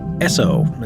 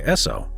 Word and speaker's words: Esso: emblem coming to mind the name Esso actually comes from the phonetic pronunciation of the first two letters in the word Standard Oil s and O and given so's history